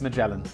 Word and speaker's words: Magellan: I know it's Magellan. I'm just making fun. There's another sponsor which I constantly pronounce wrong because I just have it in my mind as being pronounced another way.